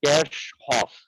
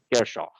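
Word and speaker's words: Kirchhoff: was a german physicist the actual pronunciation of this name is like cash hof now none of us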